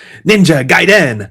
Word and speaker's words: Ninja Gaiden: You're not pronouncing it right. It's Ninja Gaiden.